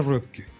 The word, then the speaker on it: Röpke: de mercado, claramente a Röpke. Röpke, algunos incluso lo ponen como sociólogo. Que se escribe R-O-P-K-E. Claro, con dos puntitos en la...